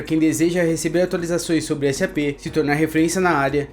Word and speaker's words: SAP: Importante mencionar que isso faz a pronúncia correta ser SAP e não SAP, mas pode chamar do jeito que quiser, ok?